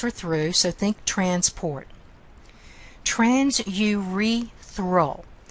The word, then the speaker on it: transurethral: Transurethral. Notice how I'm saying that. Transurethral. I am exaggerating the pronunciation so you can hear all the syllables.